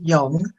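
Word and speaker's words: Yonge: no it it's um it could be pretty uh pronounced young uh but most people in canada would say young i don't know the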